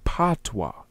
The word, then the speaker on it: Batwa: And it represents the Batwa ancestries of all people. This is why we go back to what I said about Bubesi and how one of the pronunciations of Batwa was Patwa.